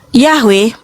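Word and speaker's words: Yahweh: Saat membaca kitab suci, Yahwe merupakan konsensus penelitian modern dan akademis untuk pengucapan yang paling mendekati bahasa Ibraninya atau aslinya, ya.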